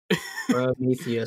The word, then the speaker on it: Prometheus: Prometheus.